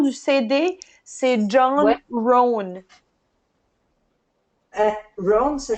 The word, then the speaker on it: Rohn: Rohn. Rohn, ça s'écrit comment?